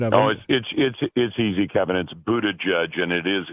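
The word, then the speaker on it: Buttigieg: and you'll probably you'll correct me on my pronunciation at noisy cabinets boo to judge and it is it's the only reason I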